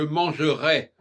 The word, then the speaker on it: manger: Je mangerai, c'est plus long que manger. Manger, on voit tout de suite que c'est contracté. D'ailleurs, le ER ne se prononce pas, c'est et.